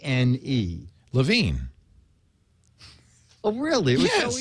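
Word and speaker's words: LaVigne: so that's Becky oh Becky okay deia you pronounce the last name Leo l a v i g NE Lavine oh really it was so easy yeah LaVine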